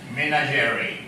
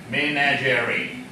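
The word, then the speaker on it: menagerie: a g e r i e the pronunciation is manager manager all right make an example sentence uh he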